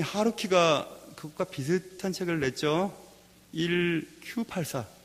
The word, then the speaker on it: 1Q84: 1Q84. 그래서 1Q라고 생각하지 않고 IQ84라고 읽는 사람도 있어 그랬는데, 1Q, Q는 일본말로 9가 Q라고 발음이 비슷하다면서요.